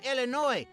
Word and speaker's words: Illinois: Vassa they don't pronounce it Illinois's it's Illinois like maybe sometimes a new